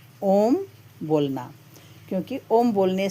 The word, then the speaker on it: ओम: अ बोलते समय हमारा मुंह खुलता है। उ बोलते समय हमारा मुंह खुला रहता है और म बोलते समय हमारा मुख बंद हो जाता है। अतः ओम का सही उच्चारण कैसे